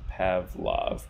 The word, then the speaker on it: PVLV: And if you put these the other way, just so happens this diagram works better this way, that's spelled or pronounced Pavlov, PVLV.